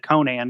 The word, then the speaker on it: Conan: they always call him Conan or Conan it's the only the person I know yeah I mean I mean Howard was an American so in American it it it's Conan I think now you know